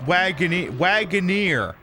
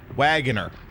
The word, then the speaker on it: Wagoneer: And this week I learned it's pronounced Wagoneer, not Wagoner.